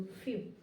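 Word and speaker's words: few: आधा फ लिखेंगे और उसके बाद में यू करेंगे। क्योंकि ई डब्ल्यू को उच्चारण जो है यू करना है। तो ए ई डब्ल्यू फ्यू क्या पढ़ेंगे?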